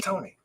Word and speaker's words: Tone: I like that you made it sound French, but my It's Tony.